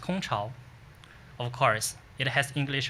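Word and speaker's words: 空巢: It pronounced Kong Chao.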